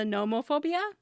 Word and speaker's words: nomophobia: people have is the nomophobia. What is it? The fear of being without your phone. Oh, is it spelled with a P or an N? No, NOMO phobia. Nomophobia.